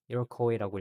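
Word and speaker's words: Iroquois: 수세기 전에 leaders of native North American people. 이로코웨이라고 읽고요.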